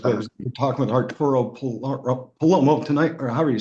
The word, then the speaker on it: Palomo: It's Palomo, like a Paloma.